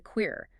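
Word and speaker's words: Qere: the page, and the Queer, that's spelled Q-E-R-E, pronounced K-A-R-Y.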